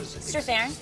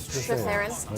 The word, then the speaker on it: Strathairn: Strathairn. Strathairn.